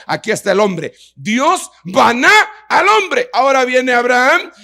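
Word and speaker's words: בנה: edificó un altar es una palabra que se escribe baná, con B grande y H al final.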